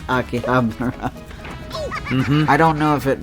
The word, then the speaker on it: Akihabara: In Akihabara. Or Akihabara, as I hear so many people say it, but no, it's Akihabara.